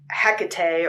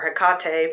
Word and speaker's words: Hecate: And so I started to get these videos about Hecate, or Hecate, people seem to pronounce it differently.